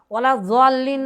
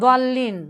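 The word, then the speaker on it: ولا الضالين: ওয়াইদা ক্বালা, যখন ওই ইমাম বলবে, গায়রিল মাগদুবি আলাইহিম ওয়ালাদ-দাল্লিন, না দল্লিন, মোটা হয় দল্লিন, জোয়াত একবারে হয় না, ওয়ালাদ-দাল্লিন, একবারে জোয়াতটা উচ্চারণ করাটা শতভাগ সঠিক নয়, যদিও বা প্রায়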